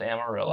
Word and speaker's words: Amarillo: But I don't know if you know this, but farmers farm, and it's pronounced Amarillo.